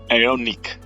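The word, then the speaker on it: Aeonik: 16 and bold and I'm using the font aonic it's spelled a e o n i k all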